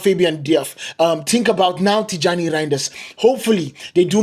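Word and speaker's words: Tijjani: Next, we are going to talk about Tijani. That's how you pronounce his name, Tijani Reinders.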